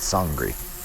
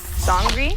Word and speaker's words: Sangre: it's it's uh nollens you pronounce it sangri sangri yeah sangri okay that's